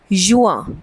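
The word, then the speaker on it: juin: then we have जून वी से इट एज़ युआ सो यू एंड आ सो युआ then we have July we से इट एस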